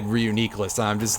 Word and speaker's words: Reuniclus: Yeah, officially, if I recall correctly, Reuniclus is pronounced Reuniclus, and I heard somebody point this out in a video.